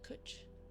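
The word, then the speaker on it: cwtch: actually oh okay means hug or Embrace is pronounced cooch to Ryme with Butch is a colloquialism that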